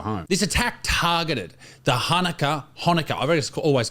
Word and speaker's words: Hanukkah: It's actually Kaneka. Say it with a Say it like you're trying to clear your throat of fleg.